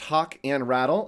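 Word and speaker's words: Hochradel: my name is hochrattle um right up there that's my name it's pronounced hawk and rattle oh let's cover the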